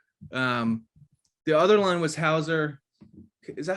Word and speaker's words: Hauser: game to watch um the other line was hauser is that how you say it i i